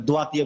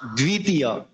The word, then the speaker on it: দ্বিতীয়: অনেকে যদি বলে, যেমন সরস্বতী বলে ওয়াতি, বফলাকে ওয়া উচ্চারণ করে। এখন এক্ষেত্রে আপনি দ্বিতীয় দর নিচেও তো বফলা রয়েছে, এক্ষেত্রে কি দ্বিতীয়টা কিভাবে উচ্চারণ করবেন? দোয়াতীয় করবেন। তো এক্ষেত্রে সঠিক উচ্চারণ হচ্ছে কোনটা? বফলার উচ্চারণ বফলার মতোই করতে হবে।